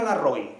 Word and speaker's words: Larroy: nuestras aulas universitarias Cristina Larroy lo pronuncio con español en español no a la francesa Cristina Larroy catedrática y